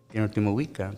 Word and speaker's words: Tenochtitlan: You know, every word, all the words are, they take the accent sound and the second to the last syllable. Like Mexica, Azteca, Mazatzin, Tenochtitlan, Totatzin.